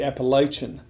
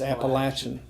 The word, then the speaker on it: Appalachian: Or around the country, they say Appalachian. It's not Appalachian, it's Appalachian.